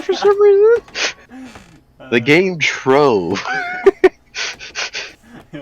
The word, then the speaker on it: Trove: The game Trove. Yeah, it's another Trove game. I'm really looking forward to it. Change the way you're pronouncing the O. Oh, Tron?